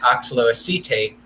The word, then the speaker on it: oxaloacetate: Like at this point, when you produce citrate, it splits into these two molecules, acetate and how do you pronounce it? Oxaloacetate.